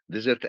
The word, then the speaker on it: desert: But if I pronounce desert, that means a place. Dessert, that means something we eat. Dessert, dessert. So the pronunciation makes the difference between two words.